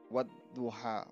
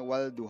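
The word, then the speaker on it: والضحى: syamsiah halnya dibaca tidak contohnya pada bacaan wadduha wadduha tidak boleh bacanya Waduh atau reward alif lam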